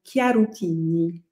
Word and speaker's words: Chiaruttini: Alors, si on le dit à l'italienne, quand même, le CH se prononce K, donc Chiarutini. Chiarutini. Donc, Ok. Chiarutini ou Chiarutini pour les Français, mais je trouve que c'est plus joli, Chiarutini.